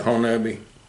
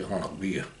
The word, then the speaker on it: Honobia: Yeah, it's they pronounce it Honeby. Most people do, but it's actually Honobia.